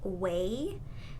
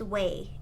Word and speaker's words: Ouai: This is from the brand Ouai. It's Ouai, and it's pronounced Way if I'm not mistaken.